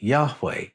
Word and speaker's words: Yahweh: The consonants we have are Y, H, W, H. How were they pronounced? Now, when you put the vowels into the name, the H's almost disappear. It becomes Yahweh.